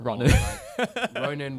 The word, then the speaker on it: Ronen: It's usually a version of like Ronen. Ronen, which is probably correct. And then the double thing is that my parents decided to pronounce it, not.